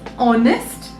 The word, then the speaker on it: honest: attention this word is honest h is silent let's this is different